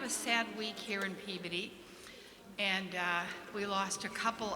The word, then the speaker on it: Peabody: And I said, okay, but you know that's pronounced Peabody, right? And well, let me tell you, them was fighting words. So here I am, and I'm saying Peabody.